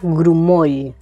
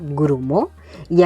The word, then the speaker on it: grumoll: Luego tenemos la palabra grumoll. Grumo significa grumo. Y aquí la dificultad está en el sonido de la al final de palabra grumoll. No grumol, no grumoi, grumoy, y grumoy.